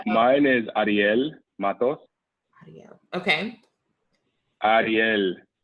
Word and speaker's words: Ariel Matos: Mine is Ariel Matos.